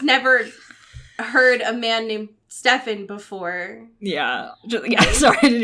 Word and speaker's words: Stefan: But Stefan's name is pronounced Stefan, not Stefan.